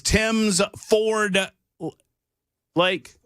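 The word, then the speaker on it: Tims Ford Lake: It is Tim's Ford Lake. It's Tim's Ford Lake. I got in a lot of trouble for about an hour and a half. I said it wrong, and people were very angry at me.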